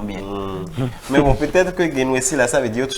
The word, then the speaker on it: Guinnessi: Sinon, selon ce que les parents m'auraient expliqué, c'est Genwesi. Genwesi.